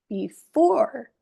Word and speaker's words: before: These words are stressed on the second syllable. So the sound is Hello, obey, before, today.